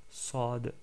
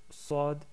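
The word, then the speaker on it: ص: En termes de prononciation, vous remarquez que Sad ressemble au son de Sin. Par contre, le son il est un peu plus fort. Il ressemble au son de la lettre C, CD.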